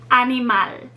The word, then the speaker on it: animal: the one that's stressed the next rule to remember if a word ends with a consonant other than s or n then the final syllable is stressed let's look at our example animal which means animal it ends in the letter l so the final syllable is what is stressed animal great job now we